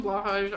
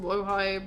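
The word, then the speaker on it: Blåhaj: I call him Blahaj. I know it's pronounced Blowhigh, but it's Blahaj is just burnt into my brain.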